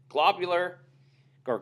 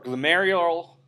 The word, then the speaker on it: glomerular: to talk about is globular Gore glomerular sorry I didn't pronounce that right filtration okay so this